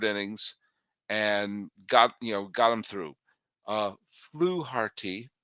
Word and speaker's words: Fluharty: Fluharty, I understand that's how you pronounce his name, was not dynamite.